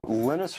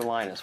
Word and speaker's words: Linus: Linus or Linus? What's your preferred pronunciation? When I speak Swedish, it's Linus.